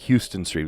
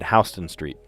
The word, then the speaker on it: Houston Street: I know it looks like Houston Street. You pronounce it Hston Street.